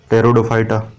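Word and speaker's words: Pteridophyta: P silent है ना, टेरिडोफाइटा।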